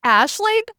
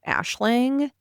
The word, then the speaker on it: Aisling: So I Googled and assuming it is meant to be Irish, which is what the Google said, it is pronounced Ashling, Which I'm which assuming it made is.